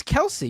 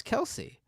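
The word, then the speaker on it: Kelce: yeah they are uh no it's Kelsey you're wrong buddy it's Kelsey it's Kelsey the chat saying it's Kelsey yeah I did a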